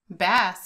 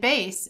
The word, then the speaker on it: bass: be pronounced two ways bass if i'm referring to a fish and bass if i'm referring to music such as a bass guitar in this example i